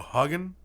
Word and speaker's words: Hagen: This is from Hagen. It's pronounced like Haagen-Dazs. Well, that's how we pronounce it over here. It's Haagen-Dazs. And so Hagen.